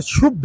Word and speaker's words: शुद्ध: इनका कहना है कि ढोल गवाह शूद्र पशु नारी। शुद्र नहीं है, शुद्ध है वो। उसको गलत ये प्रोनाउंसिएट करते हैं और गलत तरीके से उसका ये उच्चारण कर रहे हैं।